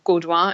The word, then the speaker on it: Gaudoin: but now I believe I'm the only doing or Gurdwara as you say it properly in French way so that if you